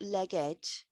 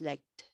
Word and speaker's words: legged: this past Ed form this is not legged it's legged leg so it stays as one syllable all right the fourth